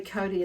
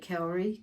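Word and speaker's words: kauri: will when i say cody it's k-a-u-r-i pronounced that way in maori um but a lot of some people will you know will pronounce it cowari gum but it's um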